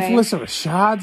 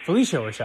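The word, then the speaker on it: Phylicia Rashad: And Felissa Rashad's in it. Just like Claire Huxtable. Hold on. What is her name? Felissa Rashad. Spell that. No, you spell it. Is it Phyllis A. Rashad? Exactly. Felicia Rashad.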